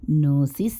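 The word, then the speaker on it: gnosis: நோசிஸ் என்று கிரீக்கில் இருப்பதை இங்கிலீஷிலும் எடுத்துக் கொண்டிருக்கிறார்கள். அதற்கு ஞானம் என்றே அர்த்தம். ஸ்பெல்லிங் படி நோ என்று இருந்தாலும் ஜியை சைலண்ட் ஆக்கி உச்சரிப்பில் நோசிஸ் என்றே சொல்வார்கள்.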